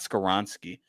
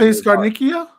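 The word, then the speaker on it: Dante Scarnecchia: It's not Scaransky. It's uh the O line coach. The the greatest O line coach of all time. Dante Scarnikia.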